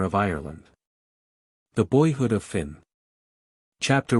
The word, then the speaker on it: Fionn: Finn, pronounced Fionn to rhyme with Tuan, got his first training among women.